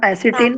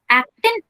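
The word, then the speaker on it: actin: Ma'am एसिटिन और myosin. एसिटिन ही correctly pronunciation क्या होगा? एक्टिन and myosin.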